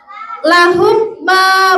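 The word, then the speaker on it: لَهُمْ مَا: Sedangkan kalau mim mati ketemu mim, maka dia bacanya harus di apa Nana? Didengung ya. Yang betul adalah bagaimana Pak Darul? Nah, masukin ke hidung suaranya.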